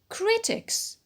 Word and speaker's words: critics: Critics. It's stressed on cri, on the penult, because of the ik rule.